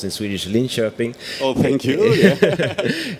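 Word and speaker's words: Linköping: the south more in the South it's uh linkoping it's about it's pronounced in Swedish Lin shoing oh thank you it's uh 2 hours south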